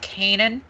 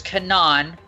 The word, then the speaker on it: Canaan: So there's Canaan, there's Canaan, there's Kana. It all depends on how you want to pronounce it.